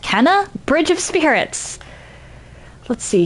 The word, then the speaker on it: Kena: It's your bird haven the raven and welcome to my first playthrough of I think it's pronounced Kenna Bridge of Spirits.